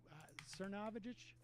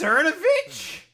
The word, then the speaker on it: Cernovich: Cernovage. Oh, it's Cernovich. Okay. Mike, however you pronounce that.